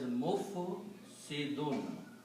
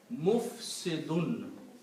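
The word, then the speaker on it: مفسدون: And we saw that if we put in mim in the beginning of these three letters and pronounce as mufsidun. If we just sound like dhamma on mim and sukoon and kasra and dal has two dhamma, which is tanween, mufsidun.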